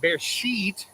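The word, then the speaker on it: בראשית: A lot of Christians in there, but bear sheet, the proper way of saying it in Hebrew, is also in the beginning.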